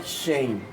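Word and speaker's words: חן: No Antigo Testamento a palavra graça é chen, indicando favor e benevolência. Está aqui, ó. É feito usando shren, carregando no R como a palavra carro.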